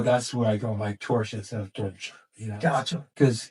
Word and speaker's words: Torchia: So I hear I crown you Torchia, like Porsche. So that's why I say Torchia, because this way, when